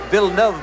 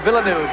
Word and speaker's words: Villeneuve: It's pronounced Villeneuve, by the way, but for our American audience, of course, we are all accustomed to Villeneuve.